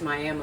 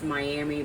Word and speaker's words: Miami: blue jacket in Prior we were way past Miami Oklahoma we were way way it looks like it say it's Miami but it's pronounced miam it's the miam tribe so anyway